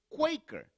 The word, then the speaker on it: Quaker: Pero eso en una pronunciación un poquito más genuina es Quaker.